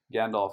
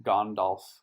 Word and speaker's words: Gandalf: in the last video i realized that gandalf should actually be gondolf which just seems seems